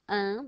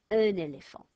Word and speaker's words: un éléphant: But I'm not going to go un because it's got a vowel after it. I'm going to sound that silent letter, and I'm going to go un éléphant, un éléphant.